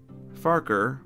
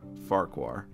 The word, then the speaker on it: Farquhar: of his Branch line so either pronunciation is technically correct farker or farquar whichever you prefer really personally I think farker